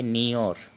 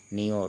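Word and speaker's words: নিয়ৰ: ओंस को असमिया में कहेंगे नियोर। जो रात को ओंस गिरता है ना ठंडा के मौसम में, उसको नियोर कहते हैं। असमिया में क्या कहेंगे? नियोर। उच्चारण भी नियोर लिखा हुआ है हिंदी में।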